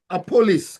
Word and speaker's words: Appollis: Apollonis, how do you pronounce his name? Appollis.